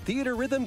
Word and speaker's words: Theatrhythm: Fantasy series with the latest theater rhythm game. Oh, it's pronounced Theater Rhythm.